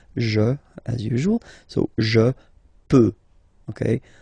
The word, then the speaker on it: peux: as usual, so je peux, okay? Final x not pronounced here, okay? So you get x, but you don't pronounce it, so basically you get the sound peut, je peux, okay?